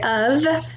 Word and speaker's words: of: we spell them like the word of that's a f not a v even though it sounds like a v the word said s-a-i-d